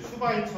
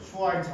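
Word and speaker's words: Schweitzer: 그리고 어디 우리 그 우리 이제 슈바이처 할 때 슈바 슈바이처 이거 영어로 쓰면 수 슈와이 이렇게 하거든 근데 어디 가서 슈와이처 하시면 안 되고 슈스 슈이 어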